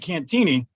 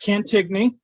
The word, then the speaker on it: Cantigny: might recognize the name the reason we pronounce it cantini is because that's how colonel mccormick pronounced it i get corrected all